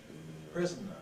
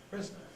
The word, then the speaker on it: prisoner: prison might be a prisoner prisoner three syllables but they can also be a prisoner two sys prisoner from the ver I